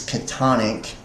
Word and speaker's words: chthonic: The pronunciation of chthonic is catonic.